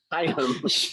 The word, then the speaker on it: Higham: Like Hi- like a high mountain, or like what you can do in 18 states right now is get high. So Higham.